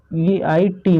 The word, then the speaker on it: eight: तो देखिए इसमें GH आया है ना, और यहाँ T भी है, तो इसमें जो GH है ना वो साइलेंट रहेगा। EIT मतलब 8 हो गया।